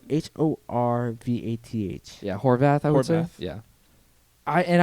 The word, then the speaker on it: Horvath: yeah he's the duke collectible whatever i forget it's spelled h-o-r-v-a-t-h yeah horvath yeah i and i love the